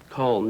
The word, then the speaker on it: Colm: Okay, if you just join us, did I pronounce your name right, Colm? Colm, yeah.